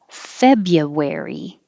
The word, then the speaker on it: February: at the end wovens february forget about that r after the bee fabia february thrill thrill